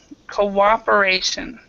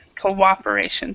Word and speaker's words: cooperation: me Co or a cooperation cooperation yeah cooperation so you don't see the W there or the a but it's there cooperation and now in